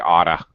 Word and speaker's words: ought to: Notice ought to always comes with the to, and frankly, when it's pronounced by native speakers, it sounds like oughta. You oughta send an email.